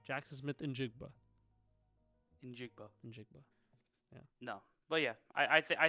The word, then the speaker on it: Njigba: Injigba.